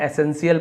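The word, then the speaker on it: essential: अब यहाँ पे देखिए एसेंशियल, इसे भी हम एसेंशियल पढ़ेंगे, टीएल नहीं पढ़े।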